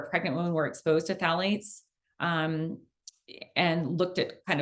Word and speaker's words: phthalates: okay great okay next phthalates so Sally's if you're spelling it it starts with a P so it's a tricky word um the p is silent um this is found